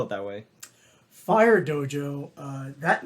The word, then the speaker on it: Phyre Dojo: r e dojo and why why do you spell it that way fire Dojo uh that name uh I created for two